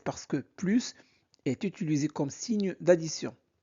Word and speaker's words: plus: Quand plus exprime une négation, on ne prononce pas le s. Par exemple, je n'ai plus faim. Je n'ai plus faim.